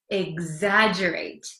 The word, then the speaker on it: exaggerate: it again exagerate it looks like it's hard to um pronounce because there's an X there's two G's it's kind of a mess but it's exaggerate exaggerate okay so do you